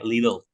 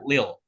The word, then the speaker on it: little: Terus nah ini juga sedikit ya, bacanya bukan little ya, tapi bacanya, nah ini makanya di sini kita baca ada phonetic symbol kan, bacanya little, little, little, little. Nah ini macam-macam juga, ada juga yang American accent bacanya nggak dibaca T-nya, jadinya lil, lil, lil soldier, lil soldier gitu kan.